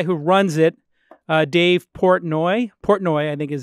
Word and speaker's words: Portnoy: because the guy who runs it Dave Portnoy Portnoy I think is how you pronounce his name is an outspoken obnoxious jerk